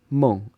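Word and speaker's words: 梦: It's pronounced meng, and it means dream.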